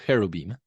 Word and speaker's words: cherubim: You might hear of the cherub, which there's not really a ch in Hebrew. If you ever see ch, it is probably originally pronounced like h. So cherubim.